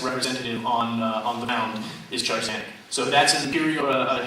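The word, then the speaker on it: Tchar'zanek: Charzanic.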